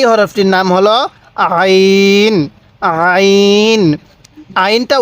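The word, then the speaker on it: ع: নাম হলো আইন আইন আইনটা উচ্চারণের সময় আমরা গলার মধ্যে হালকা চাপ দিলে আইনটা সহি উচ্চারণ হবে তাহলে কিভাবে পড়বো আইন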